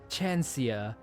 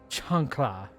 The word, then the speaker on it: chancla: I thought that L was an I. So I thought it was a Chancia and not a Chancla. I feel bad for mispronouncing it.